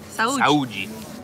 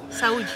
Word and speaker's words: Saúde: Saúde. No, you don't say the E. Saúde.